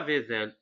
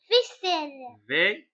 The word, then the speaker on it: vaisselle: poubelle belle V vaisel non on dit pas vaisel vaisselle vaiselle on dit vaisselle alors vaisselle vaisselle alors ici il y a la voyelle i et la voyelle e alors pour prononcer S pour la prononcer pour donner le sens on doit ajouter deuxème s sinon va donner le son Z alors pelle Camelle marelle